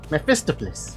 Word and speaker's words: Mephistopheles: Mephistopheles.